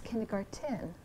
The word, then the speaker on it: kindergarten: when we say remember it's a German word it's not kindergarten it's not Garden it's kindergarten right and so if